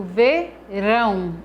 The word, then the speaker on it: verão: Quando eu pronuncio verão, o rão é a sílaba tônica dessa palavra, porque é a sílaba que eu pronuncio com mais força, com mais intensidade. E assim por diante.